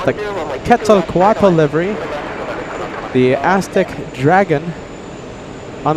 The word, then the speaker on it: Quetzalcoatl: It's the Quetzalcoatl livery. The Aztec Dragon on the 787. Hopefully this one parks at gate 3. I think we have gate 3 open. Quetzalcoatl. Took me a long time to pronounce that correctly.